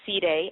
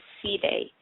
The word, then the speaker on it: Celi: the Bassa tribe so it is not a very common name but it is a Bassa name and the correct pronunciation is ceday um although I get called cely all the time I